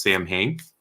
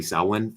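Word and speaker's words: Samhain: one is uh Season of the Witch uh salwin um which some people might know selling you might think it's pronounced Sam Hanks um but it's actually sauwin and the uh Gaelic foreign and that is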